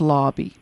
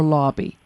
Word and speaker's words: Lobby: came to meet James Lobby? Or does he pronounce his last name Lob or Lobby? It's actually Lobby, yes.